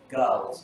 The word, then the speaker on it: goes: Go, goes, goes. Các bạn nhớ goes chứ không phải là girls hay gì đấy các bạn hay nói hả?